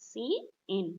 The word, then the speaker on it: cin: Cout is pronounced as cout, cin is pronounced as cin.